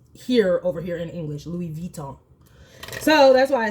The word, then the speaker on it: Louis Vuitton: she is the one who says it's actually pronounced here over here in English Louis viton so that's why I say it that way